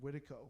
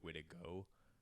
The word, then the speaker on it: Witiko: Probably like actually a more accurate way to pronounce Witiko would be like Witiko, but we just have kind of just hard K'd it.